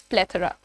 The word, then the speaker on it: plethora: अच्छा, ये वर्ड को प्लेथोरा बहुत सारे लोग बोलते हैं, बट the pronunciation is प्लेथोरा। हाउ डू you pronounce it? इट इज प्लेथोरा, ठीक है, थरा नॉट थोरा, इट इज प्लेथोरा।